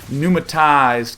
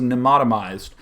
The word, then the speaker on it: pneumatized: We see no sign of any sort of pneumatized carapace, which is recently something that I learned how to say. I used to think it was pneumatomized.